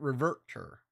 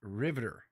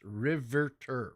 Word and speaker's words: Riveter: revert her revert her it's not reverter it's Riveter it's riverter riverter and that's a